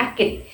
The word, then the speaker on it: Akit: disebut dengan suku Akid Akid berasal dari kata rakit dalam bahasa Melayu pesisir vokal huruf r tidak begitu jelas diucapkan sehingga kata rakit diucapkan menjadi akit Kenapa dinamakan suku akit faktor penyebabnya adalah karena